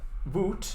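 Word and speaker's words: Wut: because the the the way you say it voot in in german means rage or anger although it's spelled slightly differently is with a u instead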